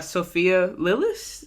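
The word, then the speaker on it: Sophia Lillis: duh duh and then uh I forgot uh Sophia lilis that's how you say her name she was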